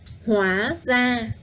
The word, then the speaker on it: Hóa ra: Hóa ra. So don't forget that the R in Vietnamese, in Northern Vietnamese, is pronounced the same as a D.